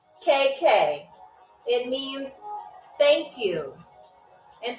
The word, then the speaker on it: takk: Talk is spelled Takk.